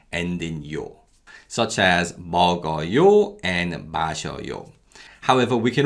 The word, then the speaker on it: 먹어요: So we never ever say 먹어요, 마셔요, 바지요, 신발이요. Yo actually weakens and sounds more like 여.